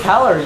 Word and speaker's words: calorie: Caliente right and so even with the pronunciation you can tell that Caliente has an eye whereas calorie has an o so oh I might